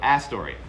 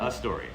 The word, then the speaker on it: Astoria: which I've I learned at that time is pronounced a Store Astoria not a story and I still am about 50 on my